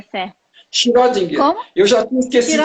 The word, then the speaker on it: Schrödinger: Eu já esqueci como é a pronúncia certa. Schrödinger.